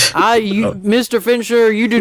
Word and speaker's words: Fincher: you pronounced his name sure Fincher yeah like a finch but then er um Fincher I don't